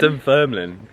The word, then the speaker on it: Dunfermline: Like Dunfermline.